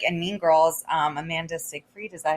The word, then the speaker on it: Amanda Seyfried: And I feel like in Mean Girls, Amanda Seyfried, is that how you pronounce her name?